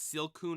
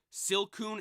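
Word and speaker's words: Silcoon: the tier list and I'm getting the name wrong already it's silon and Cason right silon and Cason silon evolves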